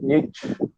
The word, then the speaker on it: Nietzsche: Passando aqui, gente, para o nosso filósofo alemão, nosso filósofo alemão do bigode grande, repetindo que esse monte de letra aqui a gente pronuncia só Friedrich Nietzsche, Friedrich Nietzsche, N-I-T-I, beleza?